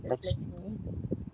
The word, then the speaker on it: Lakshmi: Thank you, Lakshmi. Am I pronouncing the name correctly? Yes, Lakshmi.